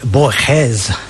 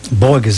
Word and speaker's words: Borges: Well, I've got um a writer called Gor Louie Bores, as I'm supposed to pronounce it. Um Borggas, as I call it.